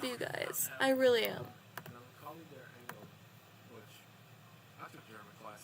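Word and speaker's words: Melancholie der Engel: Melancholy der Engel, which I took German class, yeah, that's how it's pronounced, which translates to the Melancholy of Angels,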